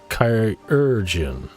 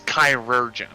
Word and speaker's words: chirurgeon: So, according to Merriam-Webster, I believe it's pronounced like surgeon, but the chai is pronounced kai, so chirurgeon. Yeah, according to Merriam-Webster, it's chirurgeon.